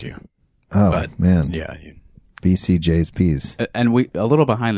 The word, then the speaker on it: BCJsPs: yeah yeah so it's the proper pronunciation is BC J's PS bcjs PS so I'm saying it wrong too oh did you what did you say I said BC's okay there's only one C I wasn't going to